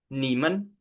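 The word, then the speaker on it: 你们: Nah, Teman-teman di sini ada kata baru yang kita belajar bahwa di sini enggak ada nadanya, Teman-teman. Gimana caranya enggak ada nada, Teman-teman? Dibacanya cepat, Teman-teman. Jadi, dibacanya adalah nyim nimen. Menya di sini dibacanya cepat, ya, Teman-teman.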